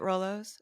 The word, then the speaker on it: Rolo: in it, I was particularly struck by the Rolos scene. Is that how you say it, Rolos?